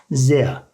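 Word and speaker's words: sehr: R sonunda olunca A şeklinde yuvarlanıyor arkadaşlar. Bunu ileride yine göreceğiz. Zea.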